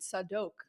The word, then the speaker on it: Zadok: I pronounce it Sadok. Sadok because that's how it is. That's how it's supposed to pronounce.